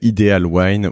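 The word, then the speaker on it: iDealwine: cofondatrice de IDIL wine qu'on prononce selon qu'on est français ou étranger ideal wine ou wine je vais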